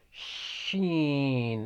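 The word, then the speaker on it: شين: in the mouth huh sheen it's like you're saying shut up shut up it is pronounced from the middle of the tongue and roof of the mouth huh the middle of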